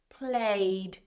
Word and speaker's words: played: Can't be played because we don't have TED or DED. We pronounce this as played.